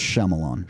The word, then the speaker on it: Shyamalan: pronounced Shyamalan.